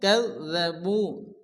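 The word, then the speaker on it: كذّبوا: ওয়াল্লাযীনা কাফারু ওয়া কাযযাবু, জালের উপরে তাসদীদ। তো যে অক্ষরের উপরে তাসদীদ আসে সে অক্ষরটিকে দুবার উচ্চারণ করে পড়তে হয়। প্রথমত ডান দিকের অক্ষরের সঙ্গে মিলিয়ে পড়তে হবে, এরপরে শুধুমাত্র ওই অক্ষরটি উচ্চারণ হবে।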